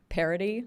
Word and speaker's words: Parity: I'm trying to pronounce it correctly because if you say it too fast, parody sounds like a different word, but anyway.